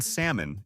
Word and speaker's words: salmon: The L in salmon is silent.